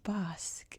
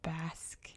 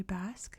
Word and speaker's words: Basque: always call this place Bosque until like maybe a year ago someone pointed out to me like it's pronounced Basque in English so if I slip